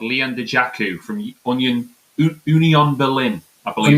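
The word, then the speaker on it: Dajaku: Leon Dejaku, loan transfer, second striker. So that must sounds be like Lukaku, so it makes sense.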